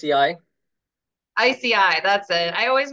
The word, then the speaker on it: ISEAI: Yeah, it's ISEAI.